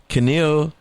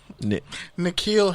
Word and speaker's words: N'Keal: a few years ago out of Arizona State, Carnell, say it right? Nah, N'Keal Harry.